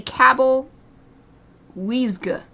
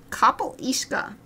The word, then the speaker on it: Cabyll-Uisge: this without any help I would call it Cabell which is pretty close I'd say Cabell Wega which is this actually not as far off now that I say it but definitely not not close enough so anyway kle ishka ishka let's read about it just